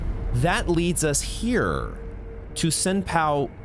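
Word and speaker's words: Senpou: leads us here to senpow Temple or sempu I think that's actually how it's pronounced AKA Bell demons Temple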